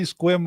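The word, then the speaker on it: Sequim: that's up in Washington it's spelled kind of funny and people say SE SE swim or C squim or something like that because all the letters in it but it's just squim yeah yeah anyways we're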